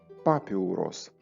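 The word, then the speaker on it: πάπυρος: з трошки іншим наголосом греки говорили і говорять папі урос з наголосом на Альфу папіурос в грецькій мові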